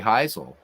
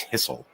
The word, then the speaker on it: Hisle: Larry Heisel and again thank you for the finally correcting my pronunciation of Larry's name all these years I've been a baseball fan I've been saying it wrong always thought it was hisle all right here we